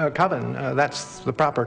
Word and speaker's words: Coven: The name of the film is Coven. Coven. That's the proper pronunciation. No. Coven sounds like oven, man, and that's just, it doesn't work.